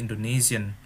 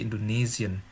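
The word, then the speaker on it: Indonesien: bilang Indonesia Indonesia tetapi Indonesian Oh ya es dalam bahasa Jerman itu selalu hampir pasti di diucapkan z-z-z-z bahasa Indonesia gitu ya Indonesian bukan Indonesian tapi Indonesian Oke ini ada contoh-contoh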